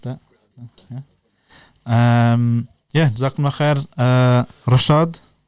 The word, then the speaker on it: Reshad: yeah duck my head Rashaad strick Russia Hamza strick not Rashid aka Claudius aka OMA